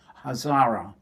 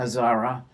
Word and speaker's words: Hazara: Spell it. Hazar. Hazara. Mm-hmm. Did I say it right? Mm-hmm. Hazara.